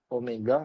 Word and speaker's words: omega: Jadi ini bacanya dibaca dengan omega bukan W.